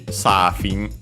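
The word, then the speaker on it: サーフィン: yeah, before it simply Safin, and so yeah, surfing from English. We quickly check its accent. Yeah, accented on the first syllable, so as expected, just like in English.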